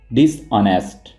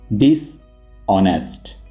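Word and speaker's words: dishonest: बेईमान को कह कहते डिस नेस्ट डिस नेस्ट इसको आप नेस्ट नहीं पढ़ेंगे आपने एच को साइलेंट रखना है और इसको आप ऐसे प्रोनाउंस करेंगे डिस ऑनेस्ट डिस ऑनेस्ट बदतमीज को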